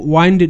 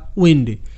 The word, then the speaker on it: wind: এটা কিন্তু ওয়াইন্ড নয়, এটা উইন্ড। উইন্ড, এখানে আই রস্ব ই এর মতো সাউন্ড ক্রিয়েট করছে।